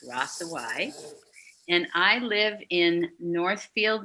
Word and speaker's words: Hrossowyc: hard to pronounce but you don't pronounce the h or the C so it's rasa Y and I live in